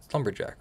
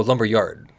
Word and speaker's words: Lumberyard: Lumberjack, right? Oh, Lumberyard.